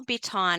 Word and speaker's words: Biton: your website I know the way we say Bon is not how it's spelled so it's Bon